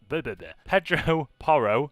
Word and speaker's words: Pedro Porro: Pedro Porro.